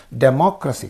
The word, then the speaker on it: democracy: And the last one, words ending in crusy take stress on the syllable immediately before the suffix. Crusy is a suffix. Democracy, crusy is a suffix, and a syllable immediately before the suffix is mo.